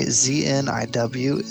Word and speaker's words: Zniw: So apparently ZNIW is pronounced Zniw.